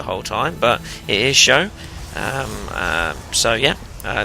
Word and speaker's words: SjoW: to go badly for me but it is pronounced show and I kind of already knew that but I decided that I was going to pronounce it SJ in my cost anyway and now I decided